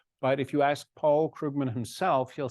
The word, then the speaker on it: Krugman: if you ask Paul Krugman himself he'll say it's more like the the oo sound is more like as in book so it's like Krugman